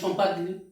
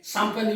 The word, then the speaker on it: champagne: Sometimes I have even heard some of the teachers, they pronounce it as champagri. See how laughable it is. So it is champagne, you know, a costly white wine that is called champagne.